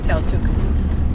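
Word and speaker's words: Tautuku: Just turned off the main road, heading down to Taituku beach, the one I just saw from the viewpoint. I pronounced it wrong at the viewpoint, it's actually Taituku.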